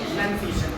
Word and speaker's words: pronunciation: There is no noun in pronunciation. But pronunciation, not N-O-U-N noun. It is N-U-N noun. None.